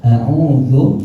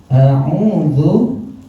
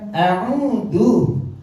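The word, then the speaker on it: أعوذ: A'udzu, apa artinya? Aku berlindung. A'udzu billahi. A'udzu billahi. A'udzu, ingat-ingat. Cara membacanya enggak boleh a'udzu. A'udzu, ujung lidah digigit. A'udzu. Ya, ada zal, ada titiknya. Jangan a'udzu. Ya.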